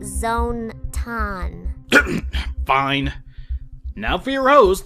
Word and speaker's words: ZONE-tan: now for your host the one and only zonan it's pronounced Zone ton fine now for your host the one and